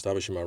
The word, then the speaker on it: Tabishima: And yes, Tabishima rhymes with Hiroshima.